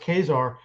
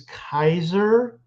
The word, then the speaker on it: Caesar: It's it's the traditional spelling of Caesar, but they think it's pronounced Khazar. And Lucy just says, "Excuse me, I think you're trying for the Germanic pronunciation, which is Kaiser."